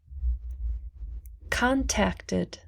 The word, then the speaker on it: contacted: wished wished picked picked contacted contacted contact ends with the t so we pronounce the id closed closed opened opened